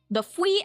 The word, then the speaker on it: Fwee: go to get Ree's stuff, which is the Fui Ajit, the Fui store. Literally, it's spelled FWEE.